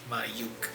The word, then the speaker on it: Mayukh: my name is mayuk m a y u k h uh it is pronounced and remembered as my UK L my yuk that's very easy to remember if you think